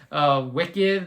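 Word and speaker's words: Wiccid: They're called Wicked if you want to check them out. It's spelled W-I-C-C-I-D.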